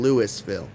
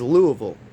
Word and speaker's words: Louisville: We speak English and we kept saying Lewisville because it's spelled Lewisville. And they're like, "No, it's Louisville. Louisville, Louisville, or Louisville or Lville." You'll hear like multiple different ways, but they they don't call it Lewisville around here.